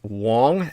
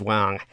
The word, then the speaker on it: Wong: And her surname is Wong, as in Aung, but it's pronounced, can be pronounced Ong, but really it was originally pronounced Wang. And it's simply a variant spelling in the phoneticization. But so you can say Wong or you can say Ong, which is actually a lot more awkward sounding to me.